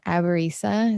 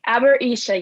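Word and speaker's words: Aborisha: You are a doula, a Reiki master, a tarot reader, an advisor, and aberisa. Is that how you pronounce it? Yeah, Aberisha, yes.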